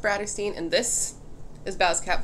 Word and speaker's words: Bratterstein: my channel name is pronounced Bratterstein, and this is Baz Cat Velasquez.